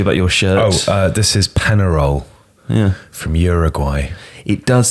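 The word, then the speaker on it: Peñarol: Can I say though that the badge, and this is no offence to Panarol at all. Penarol. Penarol. Yeah. So other than the offence I just caused by pronouncing the team's name incorrectly, it looks like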